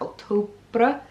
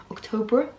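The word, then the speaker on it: Octobre: I can never say it properly. It's like October. I always want to say it with a br. October edition, which is like the men's version of Sezane.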